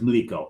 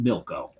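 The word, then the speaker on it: mliko: So, the poor is Mico. M L I K O. and us anglicizing everything, we took the L, moved it over behind the I to make it Milco. We pronounce it Milco and it became milk tube.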